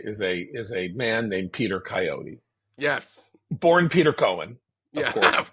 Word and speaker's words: Coyote: In New York, Peter Coyote goes to college. He takes peyote and decides to rename himself Coyote, rhyming with peyote.